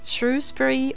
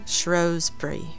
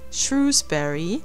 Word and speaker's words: Shrewsbury: welshpool according to Wikipedia there are two ways to pronounce the town's name which would be here we go a non-native speaker trying to get the pronunciation right shrewbury or shury I still struggle today